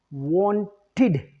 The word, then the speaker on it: wanted: It should have been wanted, id, right?